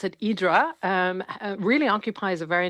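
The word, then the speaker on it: Ύδρα: Uh the island that the the Greeks pronounce it, Idra, um really occupies a very interesting place in the Greek imagination.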